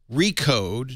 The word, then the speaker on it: Recode: Liz Gans now Liz do I say recode now that's the official name yeah you don't have to pronounce the slash it's silent re slash code no you don't have to say that uh we we love uh